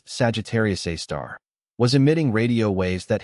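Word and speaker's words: Sagittarius A*: This source named Sagittarius A asterisk, pronounced Sagittarius A star, was emitting radio waves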